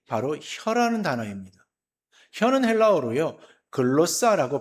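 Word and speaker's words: γλῶσσα: 글로사라고 발음을 하는데요.이 이 단어는 신약 성경 여러 곳에서 사용되어지는데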